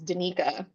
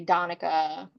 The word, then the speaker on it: Danica: Like my the correct pronunciation of my name as I say it is Danica. A lot of people say Donica. My parents and also my therapist say Danica, which you know is all that's fine, but I say Danica.